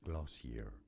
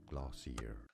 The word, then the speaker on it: Glossier: Uh, I'm actually going to look up how this is pronounced first. Glossier. Glossier.